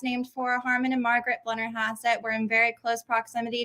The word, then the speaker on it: Blennerhassett: of messed up figures okay how do i pronounce it it is blenner haas at hotel and that's named for harman and margaret blender hassett we're in very close proximity to the island